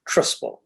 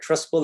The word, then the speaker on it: Trusple: Example number one is something called Trustful. If you want to Google it, Trustful is spelled Trusple.